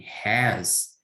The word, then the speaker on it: has: And something important, this as in has is pronounced like zebra, for example, in Portuguese, like name Zélia.